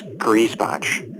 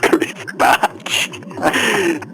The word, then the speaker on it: Greasebotch: And if you have forgotten the pronunciation of his last name, it's Greasebotch. Greasebotch. It sounds like shoes you wear inside your house from the foreign country.